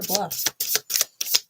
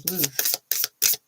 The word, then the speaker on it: Bluth: all right done MO is it Bluth is that how you pronounce it Bluth or Bluff I don't know how to pronounce that name I want to say Bluth I got to look it up clarify Justice please lth all right cool I was right thank you justice Queen